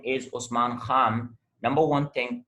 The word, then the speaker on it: Khan: So if you say my name is Usman Khan, number one thing, you mispronounce Khan, because in English we do not have kh, we have k.